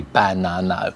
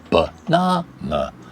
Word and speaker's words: banana: The sound, carrot, is the same with banana. 3 syllables, banana. But we don't say banana, we say banana. Second syllable stressed, this first and the third unstressed.